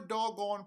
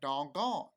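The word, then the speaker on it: Dogon: in the 1930s and that's doggone not like dong gone but anyway dog gone before doggone priest in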